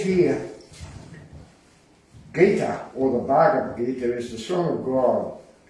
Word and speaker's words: Bhagavad Gita: to excerpt a tiny bit out of the Bhagavad Gita. Is that how you say it? Yeah, Bhagavad Gita.